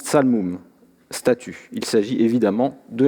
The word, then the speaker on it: ṣalmum: Sur la première ligne ne figure qu'un signe qui, en akkadien, se prononce tsalmum, statue.